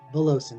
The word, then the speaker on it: Valovcin: name is voloson veloson so the the second v is silent it always used to